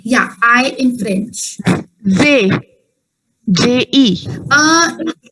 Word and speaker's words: je: J-E. J-E is the spelling and it is pronounced as je. Je. Je. Yeah, exactly. Like you're saying it as J, that's actually a different word I'll be telling you.